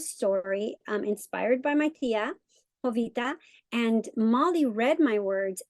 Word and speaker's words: Jovita: to share with you hovita hovita the J is silent so hovita wore pants the story